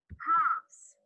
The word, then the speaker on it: halves: I can see two halves. H-A-L-V-E-S. L is not said or not pronounced.